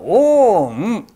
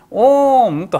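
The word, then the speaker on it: ॐ: ますと書いてサンスクリットではオーンと読みますオンと発音しますでこのオーンと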